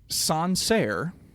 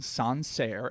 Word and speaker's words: Sancerre: Okay, next one is Sancerre. I'll say that again. Sancerre, Sancere, is Sauvignon Blanc from a specific region called Sancerre in the Loire Valley.